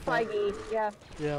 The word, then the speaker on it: Feige: How do you pronounce that? Feige, yeah.